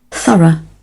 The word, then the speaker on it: thorough: Thorough. І розбираємо транскрипцію. Ми бачимо перший звук. Впізнали його. На цей звук нам необхідно поставити язик між зубами і струмінь повітря видихнути. Другий звук. Коротеньке «е».